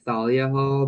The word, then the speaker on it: Thalia Hall: I say that too some people pronounce it with like the th like Thalia Hall but I don't think